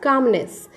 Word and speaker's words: calmness: Calmness means, students here, L is silent. Okay, so we will read it as calmness.